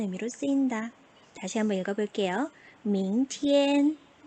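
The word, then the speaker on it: 明天: 明天, 明天, tien에서 IAN 또 나왔죠. EN 발음 주의하시고 밝을 명자, 하늘 천자.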